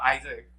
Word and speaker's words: AIESEC: It's called Isaac. Isaac? How can you spell that off for us? It's AIESEC. AIESEC.